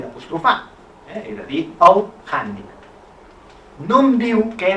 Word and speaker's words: hàndicap: al sistema fonètic català, la grafia H serveix per representar el so H inspirada, que és la pronúncia més habitual en casos com dirham, jihad, haima, hàmster, hàndicap, ara sí, holding, patati patata. Per tant, ja l'ortografia m'ha dit que he de dir hàndicap i que per tant